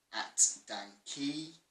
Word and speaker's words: DanKey: Shout out to @DanKey. Pronounced Dan K, but he's the cameraman.